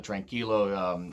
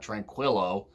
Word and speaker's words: tranquilo: like Ishii taking on the tranquilo you know and that's how you say it by the way not tranquillo like JR you say I know